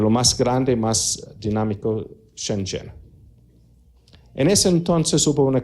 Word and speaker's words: Shenzhen: Shenzhen, hay varias formas de pronunciarlo. Se escribe en nuestro alfabeto S-H-E-N-Z-H-E-N, Shenzhen, Shenzhen, Shenzhen. Es así, hay varios dialectos dentro de la China.